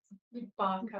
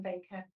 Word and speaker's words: Barker: Um Barker rather than Baker.